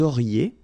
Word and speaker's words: auriez: Vous auriez, liaison here, and then EZ will go like E. Vous auriez, okay, and the last one.